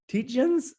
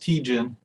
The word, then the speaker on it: Tietjen: I can see the Wilding daughter, but the Tietjens, like, how do you say that name? I picked the wrong name. How do you say your last name, Tietjens? You're pretty close. Pronounced Tejan.